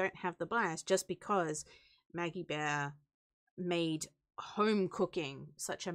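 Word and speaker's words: Maggie Beer: Maggie Bear. It's Maggie spelled Bear. Beer, but it's pronounced Bear. Sick, Maggie Bear.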